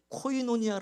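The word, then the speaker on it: κοινωνία: 사귐 이란 단어가 두 번 너 이게 이제 코이노니아 라는 헬라 그렇습니다 들어보셨나요 코인 오냐 이렇게 교회에서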